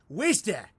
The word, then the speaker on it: Worcester: universe walsh chester massachusetts it's pronounced worcester for you people with